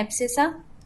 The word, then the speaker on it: abscissa: X axis पे उसको हम क्या बोलते हैं, एब्सेसा। इसकी स्पेलिंग मैं अच्छे से लिख देती हूँ, ABSCISSA, ये ध्यान में रखना।